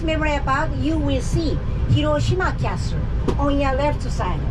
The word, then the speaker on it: Hiroshima: that hirosima or hirosima we Japanese people usually say hirosima hirosima no accent it's flat just like my jokes